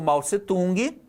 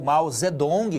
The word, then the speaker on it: Mao Zedong: Aqui nós temos, de um lado, o Mao Tse-tung, né? Ou Mao Zedong, como se fala hoje, né? Hoje se pode ler Mao Tse-tung, que é o mais tradicional, ou Mao Zedong, tá? Que é uma forma de escrever o nome dele na nossa língua mais contemporânea, mais moderna.